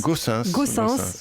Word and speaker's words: Goossens: Gaussens, donc il faut le prononcer. Fluide Glacial. C'est un nom flamand.